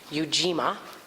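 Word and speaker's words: Ujima: is yuima collective work and responsibility so it's pronounced yuima so here we go habani nice fabulous yuima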